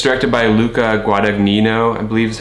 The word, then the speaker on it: Luca Guadagnino: It's directed by Luca Guadagnino, I believe is how you pronounce his name.